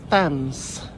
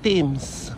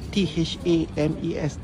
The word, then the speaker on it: Thames: So river ni dipanggil River Thames. Bukan Thames. Walaupun ejaannya T-H-A-M-E-S. Tah, apalah Mbak Sally ni. Kadang panggil sini, kadang panggil gitu. So namanya River Thames.